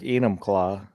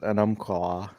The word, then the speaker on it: Enumclaw: Wenatchee or Well, that's like Enumclaw. uh-huh. Anybody not from Washington calls it an claw.